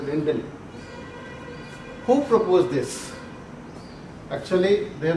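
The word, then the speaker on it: Rijndael: So this name RINJDAEL, Rindel, is pronounced as Rindel.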